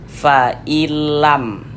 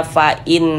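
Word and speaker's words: فإن لم: Bunyi nun sukunnya dimasukkan ke huruf lam. Kita baca fa'ilam. Jangan dibaca fa'in lam, jangan.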